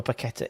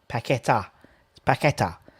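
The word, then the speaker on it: Paquetá: for such on sunday the accent for paquetta is the last a pacquita that's that's what that tim says that tim says paquetta so that's what i'm going with uh yeah holiday to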